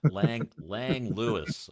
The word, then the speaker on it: Langlois: some people go, no, it's Langlois, and I'm like, yeah, my ass it is. No, it's Lang Lewis. Okay, it's Lang Lewis. But anyway, yeah, and it was actually named for somebody who doesn't pronounce it Langlois.